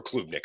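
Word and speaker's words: Klubnik: for Clemson if Kade Club Nick is a club Nick or clubnik I've heard it pronounced both ways it's yeah Jade Club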